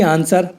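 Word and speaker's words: answer: ऐसे ही आंसर और शॉर्ट में डब्ल्यू साइलेंट है क्योंकि एस के बाद डब्ल्यू आया हुआ है तो डब्ल्यू साइलेंट है।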